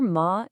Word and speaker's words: 嗎: The character ma is what you put at the end of a sentence to turn it into a question.